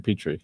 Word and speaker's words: Petrie: And that's how you pronounce the name, Petrie.